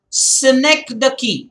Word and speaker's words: synecdoche: The next one is synecdoche, and I want to come on camp. It's important. Synecdoche, the pronunciation again. Synecdoche, Synecdoche. Do not pronounce it in any other way. Synecdoche.